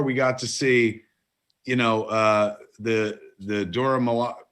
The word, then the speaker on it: Dora Milaje: But as you said before, we got to see, the Dora Milaje. How do you say it again? Dora Milaje.